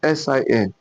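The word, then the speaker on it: سين: Why this one is sin, S-I-N, sin, sin. Then this one, shin, shin, shin, S-H-I-N, shin. You can see the way I articulated my word, my mouth. Sin, shin, shin.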